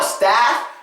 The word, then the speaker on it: staff: Now staff, you do have to stress the A sound. Not only do you stress the A sound, you open your mouth. Staff. Out of everybody in my staff, I'm the hardest worker. And everybody in the staff has stuff to do. Everyone in the staff has stuff to do. That one is simple. Open your mouth, stress the A. On the U, you relax, don't stress.